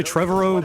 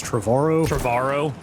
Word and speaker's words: Trevorrow: Before they fired, I always say Trevorrow, but like, he says it rhymes with tomorrow, so does that mean it's Trevorrow?